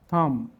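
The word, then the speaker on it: thumb: word দেখব জ্যাম রম থাম নাম লেম ক্লাইম সাকাম ক্যাটাকম প্রত্যেকটি এমবি আছে কিন্তু এর পরে কোন ভাল নাই এজন্য বি উচ্চারিত হয় না এবার অর্থ দেখি জ্যাম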